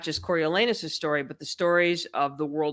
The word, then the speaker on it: Coriolanus: We learn how the boy Coriolanus Snow, did I say it right?